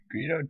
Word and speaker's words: Greedo: It's Greedo too. Yeah, it's too. It's like the word greed. You know, Greedo rhymes with Speedo.